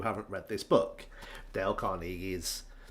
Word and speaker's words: Carnegie: For the past 25, 30 years, I've always referred to him as Dale Carnegie, because I'm British English, and that just looks like a Carnegie, not a Carnegie.